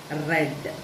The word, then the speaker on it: read: use the word as read, right? Read. Okay, the spelling is same, but the pronunciation is different. Word is same, but the pronunciation is different because it is the past form, isn't it?